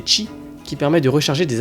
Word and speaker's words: Qi: existe depuis quelques années la norme QI prononcée chi qui permet de recharger